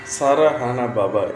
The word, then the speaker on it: சரவண பவ: நாம் எழுதும்போது சரவண பவ என்று எழுதுவோம், உச்சரிக்கும் போது சரஹண பவ என்று சொல்ல வேண்டும்.